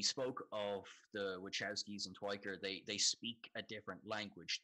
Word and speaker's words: Tykwer: up as well, and apparently the W is pronounced like a V, so it's Tykwer. Tykwer.